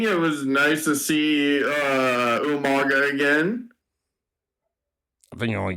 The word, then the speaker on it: Umaga: It was nice to see Umaga again. I think you're only giving it 5 out of 5 because of William Regal pronouncing Umaga's name as Umanga.